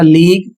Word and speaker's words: league: अगला शब्द है LEAGUE, इसे पढ़ा जाएगा लीग, इसका अर्थ होता है संघ।